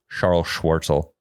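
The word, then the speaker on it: Charl Schwartzel: His first name is C H A R L Charles Charl but it's Charl Charl Schwarzel.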